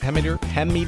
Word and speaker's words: Hemmeter: Hemmeter, is that how you say it? Hemmeter? Yep.